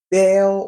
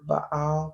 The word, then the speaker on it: Baal: So Baal or Baal, because it's spelled B-A, one of those apostrophes, A-L, Baal.